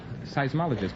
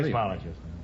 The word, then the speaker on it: seismologist: earthquakes is right now how do you pronounce it seismologist I seismologist you now have $125 here's your last chance